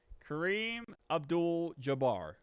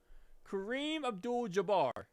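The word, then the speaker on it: Kareem Abdul-Jabbar: Kareem Abdul Jabar. How is that not correct, bro? Kareem Abdul Jabar.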